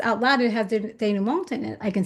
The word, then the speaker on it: denouement: I mean, it's like denouement or denouement. You could drop the T where the Denouement. T isn't Yeah, yeah, enunciated.